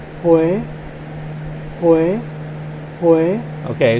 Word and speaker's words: Huế: We're about 133 miles from Hue Hue, or Hue. Hue, Hue, Hue. Okay, so not Hue, but Hue. It's spelled like Hue. H-U-E. But it's Hue.